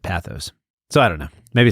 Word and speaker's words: pathos: It's pathos. Not pathos. Not pathos. According to what we looked up, but I've always said pathos.